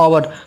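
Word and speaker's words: hour: ठीक है दोस्तों, हमारा अगला पॉइंट है जब किसी नाउन का पहला अक्षर एच हो और एच साइलेंट रहे तो उस शब्द के पहले हमारा क्या होता है? एन आता है। जैसे आप देख सकते हैं आवर, इसे क्या पढ़ते हैं? आवर, आवर।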